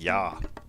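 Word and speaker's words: ja: uh in German but it's pronounced more like yah in German SK uh yes so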